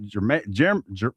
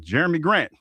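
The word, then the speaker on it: Jerami Grant: If Wimby misses the game, Portland will try to take advantage of that, but might be without Germa J. What is that? Jeremy Grant. Almost said it wrong.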